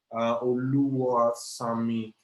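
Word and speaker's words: Oluwasami: Oluwa, Sami. That's the Yoruba name. I actually pronounced it wrong. It's actually Oluwa Sami. That's the pronunciation, right?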